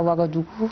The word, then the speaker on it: Ouagadougou: À Ouagadougou, il y a beaucoup de... Je prononce bien le mot.